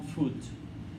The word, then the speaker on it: foot: Es muy importante esta pronunciación. On foot. I get to school on foot. Foot. No food. Hay que tener cuidado porque está foot y está food, que es comida, que lleva una D ligera.